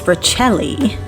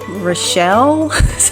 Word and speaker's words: Richelli: So next week I have Miss Richelli. It's so funny because when I first met her, I was like, Rochelle? How you say her name? No, it's Richelli.